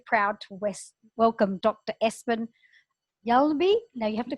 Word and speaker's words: Hjalmby: Can I hear you say it? Hjalmby. Hjalmby. I said it right. Yeah, you nailed it. Absolutely. It's a silent H.